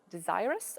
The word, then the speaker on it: desirous: Like, as I was coming here, I was listening to Edward Snowden's book, and he used a word, desirous, I think.